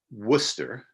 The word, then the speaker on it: Worcester: rights conference that happened in Worcester that's how they pronounce that it's a a city